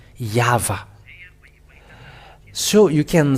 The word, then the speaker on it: Yahvah: So the YHWH is Vav in it. It's a Vav or V, Yahvah.